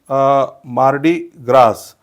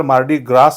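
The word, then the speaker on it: Mardi Gras: cliché next word is मार्डी ग्रास तर याचा correct उच्चार मार्डी ग्रास नाही होत तर मार्डी ग्रा होतो शेवटचा जो एस आहे त्याचा सऊंड होत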